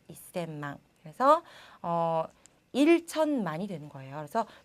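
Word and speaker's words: 一千万: 우리가 천자를 생이라고 배웠기 때문에 셈망이라고 읽고 싶지만 얘는 조금 다릅니다. 자, 어떻게 읽어야 하냐면요. 앞에 이라고 붙여야 돼요. 그래서 이셈망이라고 읽으셔야 돼요. 이셈망.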